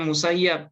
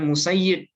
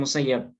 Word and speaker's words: Musayyib: itu Said bin musayyib ada juga yang membacanya musayyab ya Tapi beliau lebih suka dipanggil atau disebut dengan musayyib bukan musayyab nah kemudian ada lagi